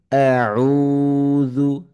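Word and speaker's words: أعوذ: উচ্চারণগুলো যেন শুদ্ধ হয় আউজু আউজু এখানে আমাদের কমন ভুল হয়ে থাকে আউজু আউজু আমরা এভাবে পড়ে থাকি এই ভুলগুলো অনেকের ক্ষেত্রে হয়ে যায় তো কিভাবে পড়বো আউজু দাল হরফটি খুবই নরম হরফ যেহেবার আগা উপরের দাঁতের আগাকে টাচ করে উচ্চারণ হয় আউজুবিল্লাহি মিনাশ শাইতানির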